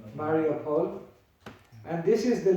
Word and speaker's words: Mariupol: She was stuck in Mariupol, I think that's how you say it, Mariupol.